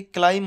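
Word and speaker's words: climb: Doubt में B silent, lamp नहीं होता है, लैम होता है। ऐसे ही क्लाइम होता है, सबटल नहीं होता, सटल होता है।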